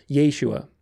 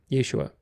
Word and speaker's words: Yeshua: at the beginning so it changes the the vowel from an A to an E which is really not a short e but a long a sound it's a dong Yeshua Yeshua of course the Greek